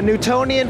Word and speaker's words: Newtonian: The Newtonian physics. Newtonian. Spell that word. N-E-W-T-O-N-I-A-N. Oh, like Newton.